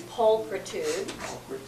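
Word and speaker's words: pulchritude: also have adjective so the accent on the noun is pulcritud and it means physical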